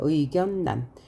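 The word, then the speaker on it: 의견란: 의견난이라고 썼는데요. 우리가 읽을 때는 리을이 니은으로 바뀌었어요. 의견난.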